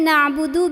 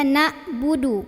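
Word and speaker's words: نعبد: iyaka gitu ya kemudian na'budu biasanya dibaca Dibaca nabudu kalau nabudu bukan Ain melainkan Hamzah ya ya sedangkan di sini Ain na'budu bukan nabudu na'budu iyyaka na'budu wa iya masih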